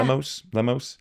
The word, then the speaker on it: Lemos: Lemos. I think of like lemon for the front part.